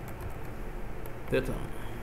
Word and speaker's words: theta: This angle is denoted Thea and is pronounced pronounced data so there are two ways we can measure